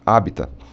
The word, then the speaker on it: habitat: Mas o mais correto no latim é sem o T, é com o T mudo, habitat. Tá? E o plural, né, de habitat, também como foi aportuguesado, a gente usa como os habitat.